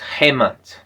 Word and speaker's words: Hemant: So for everyone hi my name is Hmon you can pro pr pronounce as hmon.